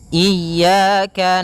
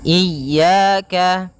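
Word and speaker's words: إِيَّاكَ: Pada lafal ya ini hati-hati dalam pelafalannya ada dua kesalahan yang sering terjadi. Yang pertama yaitu dia memanjangkan iya. Nah, seperti itu harusnya dia ee ditekan dan dilembutkan. Iyaka. Iyaka. Nah, kemudian jangan sampai dibaca panjang.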